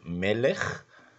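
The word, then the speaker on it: מלך: have a final kaf, which is pronounced as a ch and not as a k, and in the kaf we have two dots, which is called a shiwa.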